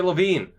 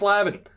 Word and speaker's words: Levin: I always want to say Levine, because that's how it's spelled, and how it probably should be pronounced. But apparently it's Lavin.